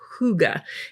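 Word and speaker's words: hygge: have this Digital Collection from Tracy Reed called Huga and that's spelled h y g g e and it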